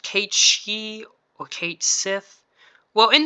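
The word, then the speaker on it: Cait Sith: Is it pronounced Kate She or Kate Sith? Well, in the game he calls himself Kate Sith, so that's what I'm gonna be calling him.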